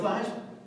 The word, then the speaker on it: Theismann: think by just simply changing the pronunciation of your last name from Theismann to Theismann to rhyme with Heisman, we can guarantee you that trophy. And that's how I wound up becoming Joe Theismann.